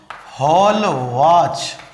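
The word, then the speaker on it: Hallwachs: तीसरा साइंटिस्ट आता है, इसका नाम है हॉलवाच। हॉलवाच कह दो, हॉलवाच कह दो, एक ही बात है, प्रोनाउंसिएशन अलग अलग है।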